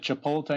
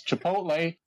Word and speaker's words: Chipotle: Mayo yes that's right I said chipot Mayo it's Chipotle I sell it I